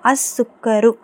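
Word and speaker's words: السكر: ஓகேங்களா கவனிங்க scene use பண்றோம். அப்ப லாம் உச்சரிக்கப்படக்கூடாது. அப்போ அஸுக்கரு.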